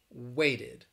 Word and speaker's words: waited: vocal chords played and you pronounce it as id as a separate syllable if the final consonant sound is t or d waited blended and then you